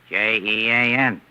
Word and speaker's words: Jean: Now look, how do you spell the French name, Jean? J E A N. And how do you pronounce that in English? Jean.